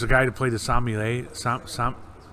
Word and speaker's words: sommelier: And there was a guy who played the sommelier.